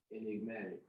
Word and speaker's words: enigmatic: grant the ignomatic motley rule so how you pronounce it e-n-i-g-m-a-t-i-c enigmatic enigmatic that's what i thought it was really